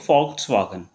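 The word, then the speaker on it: Volkswagen: ठीक है, तो इसको पढ़ेंगे हम लोग फॉक्सवागन।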